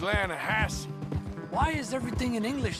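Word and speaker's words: Lannahechee: rode down to the Lana Hetchy River I caught some beautiful steelhead trout you maintenance it runs right near here yeah but it's pronounced Lana Hass why is everything in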